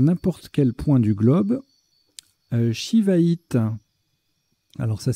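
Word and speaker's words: shivaïte: également jouer sii ou c cédille ça se prononce shiva it d'ailleurs soin que c'est la seule sa lettre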